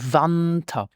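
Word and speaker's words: Wanter: Now, the winter starts with the letter W, and this is pronounced like a V in English, like in view. So we say winter, the winter.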